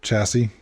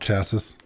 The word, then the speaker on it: chassis: I had to chuckle a little bit to myself every time you said the word chassis, because it's pronounced chassis.